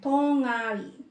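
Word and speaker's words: 동아리: So, ang basa daw dyan is, ididikit nyo na, yan, tongari. Tongari. Tongari. Ito yung final nyo, kapag inumpisahan yung next syllable neto, yung nasa final nyo, ididikit nyo doon sa vowel. Kasi di ba walang kakapitan na consonant yung vowel dito. Pagdating sa pronunciation na, kasi pag hiniwalayan natin, tong-ari.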